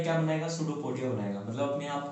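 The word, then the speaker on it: pseudopodia: False feed, false feed यानी एक तरह से जिसको सूडोपोडिया बोलते हैं। स्टूडेंट्स ध्यान रखिएगा, पी से स्पेलिंग स्टार्ट है, लेकिन पी साइलेंट है, इसलिए सूडोपोडिया बोलते हैं इसको।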